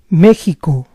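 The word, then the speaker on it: México: with this word that although it's written with an X this letter is pronounced as a Spanish J Meo Mexico this letter sounds the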